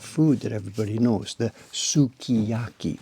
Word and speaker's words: sukiyaki: Like for example, that food that everybody knows, the sukiyaki. We don't pronounce the u.